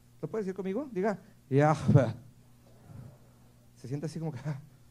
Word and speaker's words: Yahweh: Yahweh. ¿Sí? Ahí fue donde aprendí una cosa muy importante. Había un rabino mesiánico que describe que la pronunciación del nombre de Dios es como el mismo respirar.